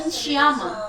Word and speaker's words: Sciamma: How do you pronounce her last name? Celine Sciamma.